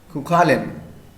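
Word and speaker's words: Cú Chulainn: So we must know how to pronounce this word. Cuchulainn.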